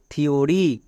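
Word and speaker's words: theory: থাকলে তার জন্য দবে এর ক্ষেত্রে কয়েকটি ব্যতিক্রম আছে যেমন টি এইচ ই ও আর ওয়াই থিওরি টি এইচ ই এম E theme এখানে টি এইচ এর ঠিক পরে ই আছে বাট এর জন্য দোয়া হচ্ছে না বিকজ এগুলো হচ্ছে ব্যতিক্রম এরকম আরো দুই একটি ব্যতিক্রম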